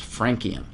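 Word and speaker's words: francium: configuration for the element frenum also sometimes pronounced frankum all right and it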